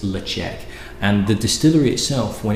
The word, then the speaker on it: Ledaig: So, Tobermory itself was originally called Led-chek. That's how you pronounce it, not Ledaig, it's Led-chek.